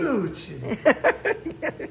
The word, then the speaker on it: вонючий: How you supposed to say вонючий? Venucci. Like that? Yeah, like how you say Italian, like Italian way. Venucci.